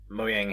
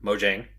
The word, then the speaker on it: Mojang: way to celebrate 116 moang has or Mojang sorry I got to say it right now Mojang added a